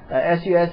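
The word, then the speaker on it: SUSE: uh Susie Linux uh if if you pronounce it Susie Linux but suc Linux has been up and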